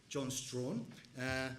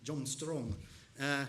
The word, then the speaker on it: Strachan: Some people says his name rhymes with prawn, John Strawn, but he reckons his name matches with Strong, John Strong.